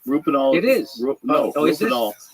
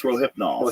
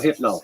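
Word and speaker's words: Rohypnol: it says it's illegal rol nool is uh illegal oh is it it's sold sold in some countries I'm saying it wrong it's roipnol roipnol yeah um sold in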